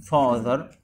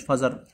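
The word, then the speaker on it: father: اب يعني فاذر، فاذر، مش فازر، فاذر. انا الاي بيعمل لي صوت الا اه، فاذر.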